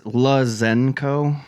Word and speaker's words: Lazenko: So what is the It's Lazenko. Zen not Zank. Like it's like of people say Zank it cuz it just rolls off the tongue Lazenko.